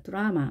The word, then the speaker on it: drama: 자, 이 단어 중에서 자, 드라마. 우리 보통 드라마라고 하는데요. AA가 두개 모두가 AA로 읽히는 것이 아니라 앞에는 A의 강세가 있기 때문에 뒤에 있는 A는 약화 현상이 일어나서 발음을 합니다.